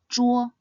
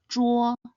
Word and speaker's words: 桌: Next, this is the character for table, Zhuo. It is made up of the initial Zhi and the compound final Wo. Zhi, Wo, Zhuo. This character should be pronounced in the first tone. Zhuo, Zhuo.